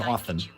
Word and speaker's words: often: Pronounce the R in February and don't pronounce the T and often welcome in or submit them ahead of time and get the answers you need.